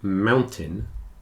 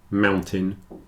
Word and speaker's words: mountain: an e curtain certon whereas these two captain and Mountain it's a little more like an I but for the same reason the stress is on the first syllable the second syllable is contracted down a bit so in all four